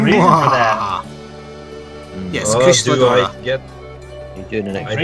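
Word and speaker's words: Kushala Daora: Kushala Deora.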